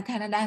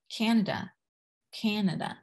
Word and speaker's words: Canada: Tiếp theo nào, Canada. Mình đừng đọc cái này là Canada giống tiếng Việt nhá, mình sẽ đọc là Canada.